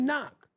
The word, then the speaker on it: knock: K in front of knock like you going to sit around and can knock on my door the K is silent the t is silent